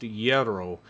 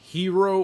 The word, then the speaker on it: gyro: local while we were there that they are pronounced yero not Hiro or Gyro so if you're unsure of the correct pronunciation it is yero not gyro or hero just saying we were told about this place